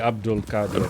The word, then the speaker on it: Abdul-Qadir: you can pronounce it it's technically Abdul Kad but uh all right